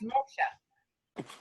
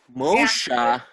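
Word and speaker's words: Muxía: And like I say, the place, the actual city or town is called Moshe, and it's Moxia, but it's pronounced Moshe. Moshe?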